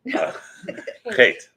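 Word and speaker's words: חטא: chet. Can you spell it? In English, it would be CHEIT or HEIT.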